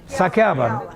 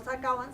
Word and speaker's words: saqueaban: Saqueaban. Quería decir, no sacaban, sino saqueaban. Saqueaban.